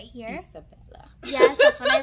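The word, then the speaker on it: Isabela: We have our trusty Ernabella. Trusty? Our trusty Ernabella right here. Isabella.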